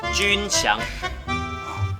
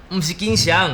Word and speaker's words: 鈞翔: I'll get it Hello Mom Yes, I'm Junxiang Not Jinxiang, it's Junxiang Yes, it's pronounced "Jun" like the word for army Why did you pronounce it so clumsily?